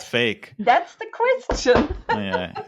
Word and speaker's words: PHEIC: Is it a coincidence that it's pronounced fake?